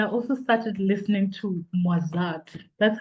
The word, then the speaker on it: Mozart: And I also started listening to Mozart. That's how you say it, right? Um, and as I It's was Mozart.